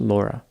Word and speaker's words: Lauria: Laura Jaylene Bible was born on April 18, 1983, and grew up in Welch, Oklahoma. Her name was spelled Lauria, but it is pronounced Laura.